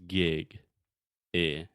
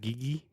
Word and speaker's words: gig: And it's not gigi, it's just gig, right? Yeah. Se escreve G-I-G. Yeah. Então é gig.